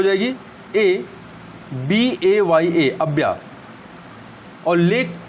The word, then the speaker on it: Abaya: और लेक टाना जो है और लेक अब्या, स्पेलिंग क्या हो जाएगी? ABAYA, अब्या, और लेक अशाली, असाल है, ASSAL, अशाल।